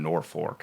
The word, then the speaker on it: Norfolk: Tiny town, Norfolk. I feel like Yeah, people don't Norfolk.